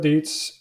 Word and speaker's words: Dietz: I spoke to John Dietz um rhymes with Beats and Jared Edwards yeah